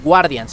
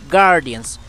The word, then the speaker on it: Guardians: Halo Guardians Guardians sí no se pronuncia la u no es Guardians es Halo Guardians Guardians Okay me lo